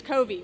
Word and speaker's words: Covey: to practice it and i want to say covey but it's kobe which is awesome what